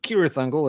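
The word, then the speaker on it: Cirith Ungol: shelf and uh also hard to pronounce um serious angle or curious angle if you're going to use the correct Tolkien pronunciation um really cool band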